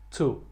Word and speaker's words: to: Chew, esse sim, mas essas três palavras de cima que têm o mesmo som, elas são pronunciadas to. É um pouquinho mais na ponta da língua, aqui na ponta da boca.